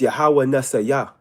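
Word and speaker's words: Yahweh Nissi: So it's Yahweh Nasaya is the proper way to say that.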